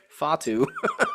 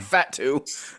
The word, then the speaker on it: Fatu: It's Fatu, not Fatu.